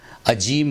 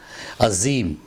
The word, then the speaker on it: عظیم: number کے شبد کو عظیم بول دیتے ہیں، عظیم نہیں عظیم، عظیم یعنی مہان، اور